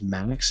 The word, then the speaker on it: MÆX: content creator program is Max, right? Yes, that's Okay, hello everybody. but it's spelled with a AE sometimes, right? On Right. YouTube. Like Aegon. It's actually Yeah, like Aegon.